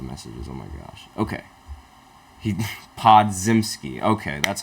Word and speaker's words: Podziemski: Okay, Podziemski. Okay, that's how you pronounce his name.